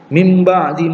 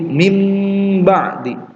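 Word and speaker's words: مِنْ بَعْدِ: Mim ba'di ma ja'atshumul bayyinah. Nah, nun sukun bertemu dengan ba, cara membacanya dengan mengganti nunnya dengan mim. Jadi mim ba'di.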